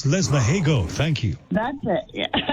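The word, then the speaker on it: Lesmahagow: It's Lesmahago, thank you.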